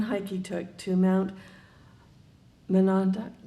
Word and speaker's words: Monadnock: Wells writes of just one hike he took to Mount Monadnock. How do you pronounce it? Monadnock.